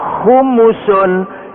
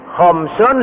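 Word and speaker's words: خمس: Kalau khumsun lima. Kalau khumusun seperlima ini bahasa Arab itu salah membaca, salah arti nanti. Khamsun lima. Tapi kalau khumusun seperlima. Makanya kalau kita membacanya keliru artinya keliru.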